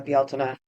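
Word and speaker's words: Bealtaine: um just last uh belela we uh uh I which is is more commonly recognized as belan belela would be the more traditional and and old Irish pronunciation and it's not necessarily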